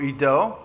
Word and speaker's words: Ido: My name Ido, actually it should be pronounced in Hebrew Ido. It's spelled I-D-O.